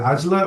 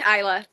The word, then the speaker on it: Isla: Is it Ajla or? Hi, it's Isla.